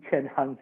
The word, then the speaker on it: Cheng-Han: from star wars and if you combine their name together jackie chen han solo that middle part you can time that's how you would pronounce my name and i'm very excited